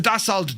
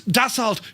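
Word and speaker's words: Dassault: Anyone who pronounces the Dald Jaguar needs a slap. It's Dault Jag, right?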